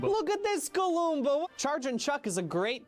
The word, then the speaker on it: Galoomba: its name has an extra syllable and is way more fun to yell. Look at this Galumba. Look at this Galumba!